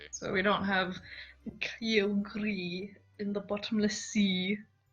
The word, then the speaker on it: Kyogre: So we don't have Kyogre in the bottomless sea. It's not pronounced Kyogre, you fucking Pachinko. It's actually pronounced Kyogre.